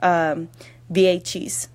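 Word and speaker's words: Vieites: It's spelled Vieeites, but it's pronounced Viechis.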